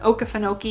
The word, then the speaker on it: Okefenokee: try and figure out how to pronounce that Okefenokee is what I've always been told it is so shortly before they